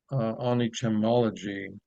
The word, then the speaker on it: Onichemology: And if we write a book about Onichemology, did I pronounce that right, Michael?